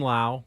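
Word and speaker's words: Lowe: That's Brandon Lau. Does he pronounce it Lau or I think Low? it's Low.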